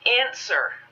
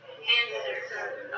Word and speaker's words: answer: to point out answer there's one letter that's silent what is the silent letter w w you right so when we say it we say answer answer okay great so one